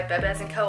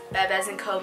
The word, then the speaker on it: Bebés: And then the pronunciation of a word means nothing to them. So even though our brand is Bebés Co, meaning like our babies in Spanish, they don't care about that. The pronunciation could be misconstrued by somebody that looks at our name and might think, oh, that's Bebés Co, which we do get called that a lot.